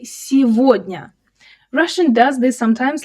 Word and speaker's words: сегодня: You might expect to say сегодня, since you can see the word год, meaning year, right inside it. But, we don't say it that way at all. The г here turns into в. We say сегодня.